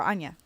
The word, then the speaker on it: Anya: Or Anya, that's how you say it.